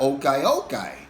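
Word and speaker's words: ukay-ukay: said well what about okay okay which is spelled u k a y u k a y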